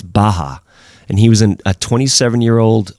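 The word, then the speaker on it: Bacher: name is franz baha it's spelt b-a-c-h-e-r but it's baja and he was a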